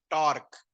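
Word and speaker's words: tau: application is finding of torque टर को ऐसे लिखते हैं और रीड कैसे करते हैं प्रोनाउंस कैसे करते हैं इस साइन को इस साइन को कैसे प्रोनाउंस करते हैं टा ऐसे होता है ना सिग्मा अल्फा बीटा गामा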